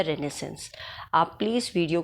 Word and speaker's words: Renaissance: तो सबसे पहले है रिनेसेंस था क्या रिनेसेंस सबसे पहले 1500 से लेकर 1600 60 तक के पीरियड को रिनेसेंस कहा गया है इसको आप रिनेसेंस प्रोनाउंस करेंगे इट्स नॉट रेनेसा रिनेसेंस है ये और इसकी एक स्पेलिंग